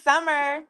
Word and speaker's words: Summar: Hi, my name is Summer. Just like the season, it's just spelled with an A instead of an E.